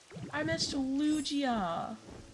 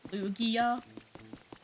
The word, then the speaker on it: Lugia: I think it's a hard G, so that doesn't help me because I don't know what the heck a hard G is. Is that Lugia?